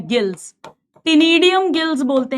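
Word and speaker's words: ctenidium: Gills टिनीडियम gills बोलते हैं। इसमें सी साइलेंट है। Silent टिनीडियम gills feather like gills.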